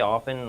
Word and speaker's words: often: They said you don't you say with without a T.